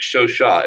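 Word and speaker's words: Chauchat: yeah show Shaw there it is the French show shot it was a lmg a light machine gun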